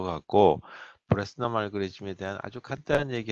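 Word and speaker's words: Bresenham: 그 이 사람 이름을 영어 알파벳으로 쓰게 되면 BRESSENHAM이라고 해서 이 그 H가 묵음인 것 같아요.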